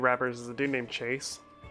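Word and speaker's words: CHVSE: One of my favorite YouTube rappers is a dude named Chase. It's spelled C-H-V-S-E.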